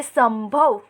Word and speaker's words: संभव: उसके बाद शब्द दिया हुआ है संभव, लेकिन हम बोलते हैं संभव। तो स के बाद जो आधे म का उच्चारण करते हैं वो करते वक्त ध्वनि सिर्फ नाक से ही निकल रही है, इसलिए हम स पर बिंदु लगाएंगे।